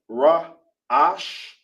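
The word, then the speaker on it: ראש: This is the word head in uh Hebrew is pronounced raash.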